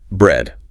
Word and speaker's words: bread: Next, bread. This is the short e. And this one is a classic trap because ea usually makes a long e sound like in meat, but not here.